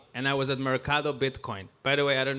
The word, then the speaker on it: Bitcoin: And I'm like, "Adam, you gringo. It's Bitcoin." That's how they say it.